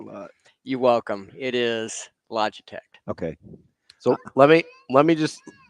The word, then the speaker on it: Logitech: to anything you saidane it's pronounced logic so Logitech oh okay guy graphic